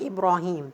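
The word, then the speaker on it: إبراهيم: You will find that this word Ibrahim is written in the Mus'haf without alif and without ya. Okay, but we pronounce it like Ibrahim, so you have to know that.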